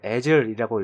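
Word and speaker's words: Azul: 홈페이지 보면은 이제 이거를 애즐이라고 읽더라고요. 애즐이라고 읽고요.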